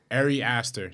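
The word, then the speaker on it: Ari Aster: who did hereditary uh area aster arey aster that's how you pronounce it yeah area aster is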